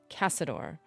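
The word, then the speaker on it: Caçador: Okay, I just need to know because the C in your name, the second one has an accent on it. Does it still have the hard C sound, like a cuss sound, or does it have the like the S sound?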